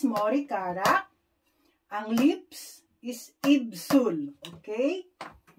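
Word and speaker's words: 입술: Ang lips is Ibsul. Okay? Ibsul.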